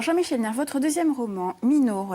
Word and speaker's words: Minoru: Alors, Jean-Michel Nert, votre deuxième roman, Minoru, alors je le prononce à la corse.